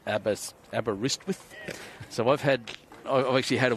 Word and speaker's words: Aberystwyth: It's Aberystwyth.